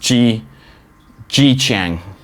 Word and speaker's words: Zhejiang: But it's pronounced Zhejiang.